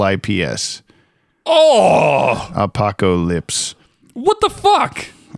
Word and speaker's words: Apokolips: I'm oh thank you today we're watching Apocalypse Now part one uh your prediction last time